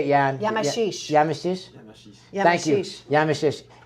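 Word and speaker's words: Yamachiche: Yamashish.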